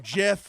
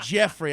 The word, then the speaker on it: Geoff: Okay, I'm Jeff. You This burn statement that tire. endorsed by Jeff. Jeff. It's spelled GEOFF. Oh, yeah. by the way. So don't say Jeffrey.